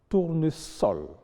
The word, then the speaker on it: tournesol: Il y a donc des exceptions, notamment dans les cas où le S est entouré de voyelles, mais se prononce quand même S. Il s'agit de susurrer, vraisemblance, tournesol, qui sont en fait des mots composés déguisés.